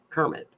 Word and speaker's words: Kermit: I call it Kemet because people down there pronounce it Kemet, but it's Kermit.